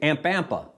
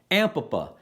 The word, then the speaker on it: Ampapa: And you can start practicing pronouncing this name. And it's not the easiest name to say. Ampapa. No, see, I said it wrong. Ampapa.